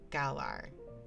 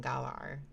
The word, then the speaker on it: Galar: the regional variance right I don't know why I thought gaylar rather than galar gayarian look it's you are you telling me it's Not better.